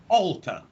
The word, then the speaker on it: alter: a long oh no it's a short vowel it's this vowel here oh oh alter alter no no okay remember if the phonemic symbol has the two dots after it then we make it long okay but here this sound has no dots so it's a straight up in the way that we say stop clock watch hot repeat